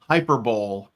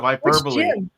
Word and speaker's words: hyperbole: So, it's okay instead of hyperbole. Um huh. Which Jim used to say that? Jim, Mr. Medicare, internet aristocrat Jim. Hyperbolt. He used to say hyperbol instead of hyperbole.